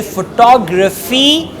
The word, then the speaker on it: photography: he's a very nice photographer so it's actually photography and photographer right that's what we call pronunciation the first criteria do not focus accent